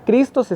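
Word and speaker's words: Χριστός: la parte del hebreo en griego la palabra cristo se escribe así que se pronuncia cristos y tiene un significado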